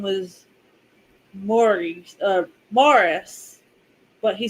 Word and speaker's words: Maurice: M but so like if you accidentally said Maurice but his name was Morris, he would like freaking freak out. But it's like your name is literally spelled like Maurice, not Morris.